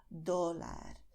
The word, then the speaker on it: dólar: Porque cuando pronuncias dólar, para la letra D, tu lengua toca los dientes de la parte, pues, de la frente, ¿vale? Entonces, los dientes de arriba, tu lengua los toca y se queda ahí